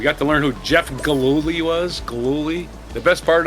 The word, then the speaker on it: Gillooly: We got to learn who Jeff Gillooly was. Gillooly. The best part of Tanya Harding's husband's name being Gillooly was watching Tom Brokaw on the NBC News trying to say Gillooly.